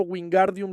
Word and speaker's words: Wingardium: Entonces Hermione le dice, el Gar es largo y pronunciado.